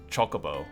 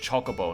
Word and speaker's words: Chocobo: Chocobo. Yeah, it's pronounced chocobo, not chocobo.